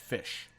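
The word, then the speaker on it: ghoti: g-h-o-t-i but it's pronounced fish wait what yeah GH I know no no no just stop okay g-h-o-t-i it is GH as in tough or enough for the F sound oh oh as in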